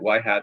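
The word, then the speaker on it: ŷ: are denoted white hat see that little symbol above the Y here that's a hat so you you pronounce that y hat versus y so when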